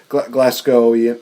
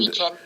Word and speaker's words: Glaswegian: I know that, mentioning that you're from Glasgow, you're a fellow Glasgowian. I don't know how to say this. One of your favorite fellow people from Scotland. Glaswegian.